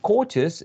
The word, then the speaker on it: courteous: And courteous, we don't say courteous. The stress remains in the same syllable.